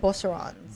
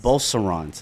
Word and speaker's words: Beauceron: called Bosserons. Beaucerons. Yes, they're French Shepherds. Spell it.